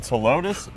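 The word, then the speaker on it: Ptilotus: know what's silent uh the p is silent and telotus joey this is an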